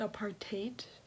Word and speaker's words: apartheid: I looked it up and it said apartheid.